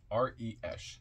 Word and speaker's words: Resh: R-E-S-H, pronounced R-E-S-H, pronounced Resh, transcribed as R, the number 200, meaning face, the collective intelligence.